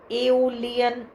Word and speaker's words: Aeolian: है, संगीत से जुड़ा एक वाद्य है जिसे एओलियन हार्प कहते हैं। उसका स्पेलिंग है AEOLIAN, हार्प।